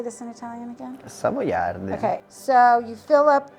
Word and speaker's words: Savoiardi: Savoiardi.